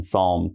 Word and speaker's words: psalm: Remember, we have a silent P, so just pronounce the S.